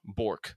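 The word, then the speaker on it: Björk: so I spelled like if you took born like Jason Bourne born and then switch the end out with a K bork okay yeah yeah okay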